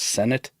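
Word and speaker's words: Sinnott: near there as well I did hear that his his name should be pronounced Senate yeah I I keep hearing senate senate a lot I'm from the Midwest and ignorant as like that spells senat that don't spell Senate I should not call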